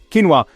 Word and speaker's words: quinoa: Quinoa, the compact grain with impressive muscle benefits.